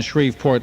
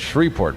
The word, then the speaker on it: Shreveport: I know no one has ever heard of Shreveport, but it's Shreveport, believe me. Shreveport. I know it's spelled with a V, but down there they say Shreveport because they're crazy.